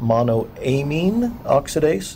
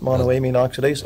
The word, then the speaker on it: monoamine oxidase: I in the stomach because of something called mono a mean oxidase is that how it's pronounced monoamine oxidase Mao but the vine has an MAO inhibitor